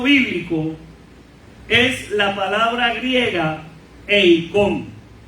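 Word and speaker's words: εἰκών: La palabra imagen usada por Pablo en este texto bíblico es la palabra griega eikon. Eikon, y se escribe con K.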